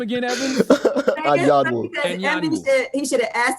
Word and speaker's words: Anyanwu: Evans, how do you pronounce your last name again, Evans? Anyanwu.